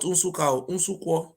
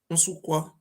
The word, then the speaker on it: Unsukwa: He was from a place called Unsukwa, not Unsuka, Unsukwa.